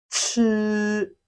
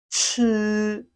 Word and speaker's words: 吃: This sound is also very simple if only you know how to pronounce the j sound, if you can differentiate them. While making this sound, there is always a little airflow. It has the same sound with the English word ch, chef, chef, ch, chef, exactly like an English word.